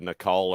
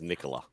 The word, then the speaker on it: Nicola: i met her i i said nicole or she goes no it's it's nicola nicola sounds like a pepsi